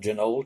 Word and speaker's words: Janoel: it also sells under the name of genoa 12 i guess that's the way you pronounce it j-a-n-o-e-l-12 and uh supposedly